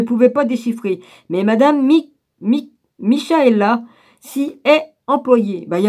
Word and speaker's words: Michaela: Ah, on la prononce Michaela ou on dit non, Michaela.